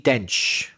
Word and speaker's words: Dench: Dame Judi Bench. So the female version. You said Dame Judy Bench. Judy Bench. So, famous bench. Famous park bench.